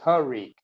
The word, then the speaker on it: Tariq: take Ros to another Tariq not Tyreek it's Tariq t a r IQ not Tyreek uh yeah